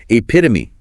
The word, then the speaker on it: epitome: And the stress is on the pit.